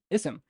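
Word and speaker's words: اسم: Sorry, ism. Now, notice how I pronounced the initial or like the beginning of it. I pronounced with uh, and this is hamza.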